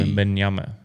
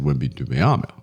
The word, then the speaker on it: Wembanyama: Right, that's the Wembanyama. That's the correct pronunciation. I got it all wrong when I said Wembanyama.